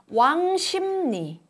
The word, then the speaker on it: 왕십리: 왕십리, 왕십리, 왕십리. In a broad sense, pronouncing the liquid 르 as a nasal sound 느 under the influence of a nasal can also be considered a form of nasalization.